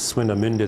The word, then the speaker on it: Swinemünde: And this is actually the German pronunciation is Swinemünde. That's a little easier.